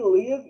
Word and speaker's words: live: E aí a pronúncia é com A, né? Live significa ao vivo. Não que não exista o verbo live, to live, que é